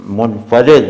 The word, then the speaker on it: منفرد: اور تاحال منفرد ہیں۔ منفرد ہے یار، صحیح تلفظ یہ منفرد ہیں۔ ہاں جی سلمان بھائی، اور کوشچن آپ